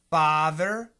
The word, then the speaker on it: father: is the same thether so let's look at the front ba f a ba fur father further a a it's a huge difference Andrew you need to